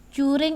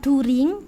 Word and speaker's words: during: yang kamu lakukan juring juring ini artinya selama selama last holiday liburan kemarin ya last holiday itu liburan kemarin berarti What did you do juring bukan during tapi juring bacanya pakai Ju juring H apa yang